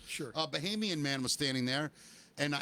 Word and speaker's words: Bahamian: the beach and this I guess you say Bohemian, is that the right way to say a I guess. Yeah. Person from the Bahamas. Sure. A Bahamian man was standing there